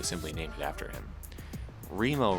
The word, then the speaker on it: Remo: named it after him Remo rhymes with Primo maybe they came up